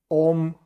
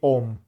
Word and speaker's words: Om: But usually it's translated in European language as O. And for this reason, you will see Om instead of Om. It's pronounced very, very close one to another. So for this reason, usually they just say Om. But if you are paying attention, it's an A-U which becomes like an O.